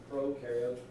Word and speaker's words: prokaryotes: Pro rhymes with no, because prokaryotes have no nucleus.